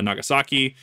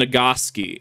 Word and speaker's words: Nagasaki: over uh after Hiroshima Nagasaki which I I I I'm not kidding when I tell you that people in Idaho that have taken Japanese as a class legitimately pronounced hirosima and nagasi and that that just